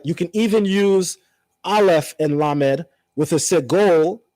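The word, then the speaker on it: אֵל: singular form for God is the vowel tzere, which is a A sound. Right? So, that's ale.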